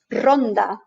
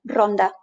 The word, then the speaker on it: Ronda: at the end but if the r is at the beginning of the word we actually roll it and it becomes then a succession of taps of the tip of the tongue against the front pallet as if we were drilling a hole in our wall that sort of rolling ronda the place in spain ronda this also happens when you've